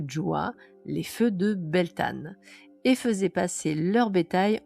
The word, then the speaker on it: Beltane: Alors, Beltane, prononcé Beltane est l'une des huit grandes fêtes du calendrier celtique et de la roue de l'année.